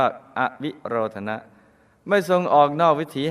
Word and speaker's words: อวิโรธนะ: พอ งาม 10 อวิโรธนะ ออ อ่าง ว แหวน สระอิ สระ โอ ร เรือ ท ธง หน หนู สระ อะ อ่าน ว่า อวิโรธนะ ไม่ ทรง ออก นอก